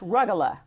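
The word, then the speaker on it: rugelach: So it's pronounced rugula.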